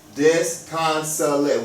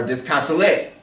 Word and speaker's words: disconsolate: Okay, so we would say disconsolate instead of disconsolate or disconsolate. Okay, it's disconsolate.